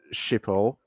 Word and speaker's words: Schiphol: Detroit to Schiphol, that's how you pronounce it.